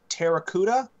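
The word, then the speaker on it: Pteracuda: Sharktopus versus Terracuda. And spelled with a P, by the way, so like pterodactyl.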